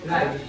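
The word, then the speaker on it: wrong: এখানে ডবর উচ্চারণটা করতে হবে না।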